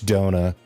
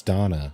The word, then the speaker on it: Donna: that Donut. You Have you seen Donna? Donna? Can't say I have. Oh, right. It's Donna. I've been mispronouncing it.